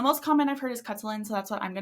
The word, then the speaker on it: Khutulun: cin as her cin cin as most common pronunciation also heard kutan and hin hin yeah so the most common I've heard is kutlin so that's what I'm going to be referring